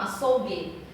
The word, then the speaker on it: açougue: Quando o U é pronunciado e quando o U não é pronunciado, olha lá. Régua, ó, régua, tá, guá já tá dizendo, né? Saguão, e aqui já não, ó, açougue. Ele está mostrando o G, mas ele tem um U ali, ó. Então ele não tem um U na pronúncia. Ele está ali, mas ele não diz na pronúncia, né?